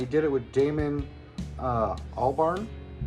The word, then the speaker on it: Albarn: with Damon uh Albarn that's why I said it right damn it all Barn because when you look at it with that R and the end it looks like an m so I've been saying it wrong for a while but uh David